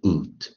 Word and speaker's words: could: 还是我们之前有教那个韵音组合哦，它是念这个 could，这个也是念 would，那个 l 都没发音，could，would，哦，l 都没有发音。